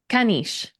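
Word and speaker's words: caniche: Kanish. Really? We can. I had no idea. How do you spell that?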